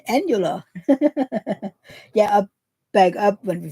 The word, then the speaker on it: annular: No, I did not say annual. I said annular.